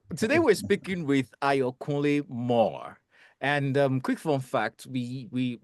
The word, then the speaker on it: Moore: As a typical Yoruba boy, I would call that Mori because 2 O's, right? But the stunning discovery is that it's actually Moore.